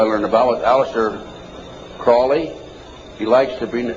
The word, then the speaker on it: Crowley: an avowal of Aleister Crowley he likes the penis had his name pronounced Crowley to rhyme with holy and the Satanist today